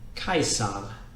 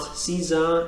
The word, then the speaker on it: Caesar: what we've learned so this one is Julius Julius Kaiser Kaiser so it's not Caesar it's not it's not the Khazar it's not anything like that it's also not Kaiser its Kaiser so no